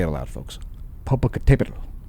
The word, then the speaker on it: Popocatépetl: Popocatépetl. It has an accent mark to remind you how to pronounce it. Popocatépetl.